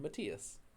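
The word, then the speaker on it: Matías: to make sure that the name is pronounced correctly with the e sound matias your here's your first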